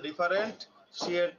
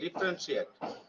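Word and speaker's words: differentiate: হাউ টু ডিফারেন্সিয়েট, ডিফারেন্সিয়েট, ঠিক আছে, উচ্চারণ ডিফারেন্ট শিয়েট না, ঠিক আছে, ডিফারেন্সিয়েট, ঠিক আছে, ডিফারেন্সিয়েট between us the right and wrong dash fact.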